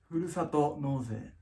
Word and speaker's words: ふるさと納税: This is a very cool system, and it's called Furusato Noze, right? Yes. Say it in real pronunciation. It's called ふるさと納税。